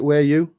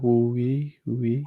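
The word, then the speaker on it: Wuyi: Yeah, is it Weiyu? Am I pronouncing that right? Yeah, Wu-yi. Yeah, I'll go Wu. I'm going Wu-yi.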